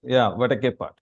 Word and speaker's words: Vadakepat: Vadakepat. Is that how to pronounce it? Yeah, Vadakepat. Yeah. Vadakepat, is it? Yeah, exactly. Yes.